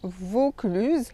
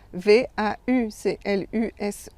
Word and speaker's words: Vaucluse: Vaucluse, ça s'écrit V-A-U-C-L-U-S-E. Donc on prononce O fermé, Vaucluse, et pas Vaucluse ouvert. Donc ça aussi, un petit exercice de prononciation. Quand vous voyez A-U, vous devez prononcer le O fermé.